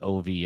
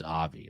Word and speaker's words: Avi: One Stop, Baby Girl, and Avi, as in OVI. I guess you could pronounce it Ovi, but I think it's Avi, like obviously.